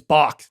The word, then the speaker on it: balk: Is the L there in the pronunciation or no? There were a lot of I don't think you say balk. He balked. It's bock.